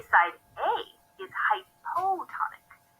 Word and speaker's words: hypotonic: We say side A is hypotonic. Hypo rhymes with low, which helps me remember that it's a lower solute concentration, at least when compared to side B.